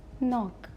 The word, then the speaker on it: knock: the first is not it is starting with k but K is silent so we say knock next is knit third